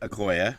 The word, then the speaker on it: Okoye: Okoye, yeah.